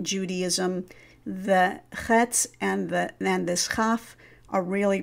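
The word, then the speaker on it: כף: When we encounter this letter and it is without the dagesh, it's called a chaf, and it is not pronounced like the ch English, which is usually ch, but rather ch, as in Bach.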